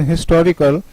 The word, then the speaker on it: historical: So you see, when H is pronounced in historical, we used article a, and when H remains silent as in honest, hour, honor, we used an.